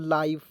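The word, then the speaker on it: life: लेकिन यहां प देखिएगा आई एफ ई आएगा तो उसका उच्चारण हो जाएगा आइफ के रूप में तो इसमें आइफ जोड़िए तो हो जाएगा दोस्तों लाइफ तो एल आई एफ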